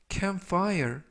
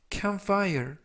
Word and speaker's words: campfire: 이번 표현은 campfire, campfire, campfire 이라고 발음하시면 되겠고요. 이때 중간 부분에 있는 P가 거의 발음이 되지 않습니다. 그래서 campfire가 아니라 campfire 이라고 발음하시면 좋겠고요.